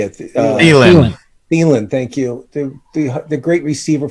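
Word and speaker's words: Thielen: Thiemann, thank you.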